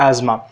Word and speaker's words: asthma: Anyway you can pronounce एस्थमा और एज़मा।